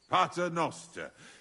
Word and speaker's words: Pater Noster: Pater Noster qui as in calis.